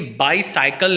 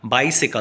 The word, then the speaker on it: bicycle: अच्छा, ये बाईसाइकिल नहीं होता, बाइसिकल होता है। This is the correct pronunciation, तो याद रखें।